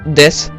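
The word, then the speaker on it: です: toujours à la fin le U de des ne se prononce pas prononcer des même chose si un verbe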